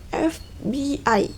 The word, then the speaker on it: FBI: Initialism is word from initial letter, but each letter is pronounced separately. Nggak jauh beda dari yang tadi. Initialism ini contohnya FBI, yaitu Federal Bureau in Investigation.